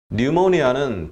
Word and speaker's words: pneumonia: Many patients developed pneumonia. 뉴모니아는 P로 시작하니까 pneumonia 아닙니다. P가 N 앞에 오면 발음이 안 됩니다.